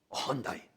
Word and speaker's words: Hyundai: things than if you buy a hyundai okay hyundai that's how you say it hyundai that's how